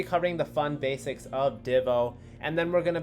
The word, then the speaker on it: DIVO: it div o because it sounds like the first syllable of dividend and oh so we obviously know